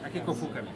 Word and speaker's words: Akiko Fukami: Akiko Fukami. Yeah. It's like that, the right pronunciation?